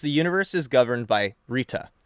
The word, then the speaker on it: Rta: Dharma exists because the universe is governed by Rta, which is spelled RTA, but pronounced like that one lady down the street in Jersey.